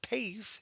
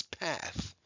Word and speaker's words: path: abrev over the a because it's short it's not pave it's path and we'll put an